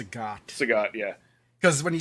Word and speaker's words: Sagat: you say his name, I think um, it's Sagat.